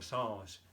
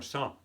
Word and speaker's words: sens: ¿Y se pronuncia la S? No. Claro que un sens es un sentido, pero en la expresión no decimos ça n'a pas de bon sens.